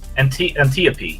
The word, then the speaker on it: Antiope: General Antiope, Antiope, or however it's pronounced. I forget my Greek. Anyway, Antiope sounds right. Antiope, yeah, that's right.